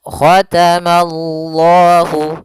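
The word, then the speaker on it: ختم الله: Ma-nya tipis, Allah-nya tebal.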